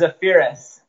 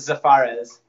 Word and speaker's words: Zaferes: I'm ready this is a ferris Severus yes CAF PR es Oh emphasis on that step first a yeah cuz everyone suppose it safaris and I don't know